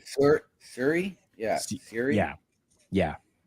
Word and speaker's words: Syuri: But then you come to 2022, where I can never pronounce her name properly. Syuri. Syuri.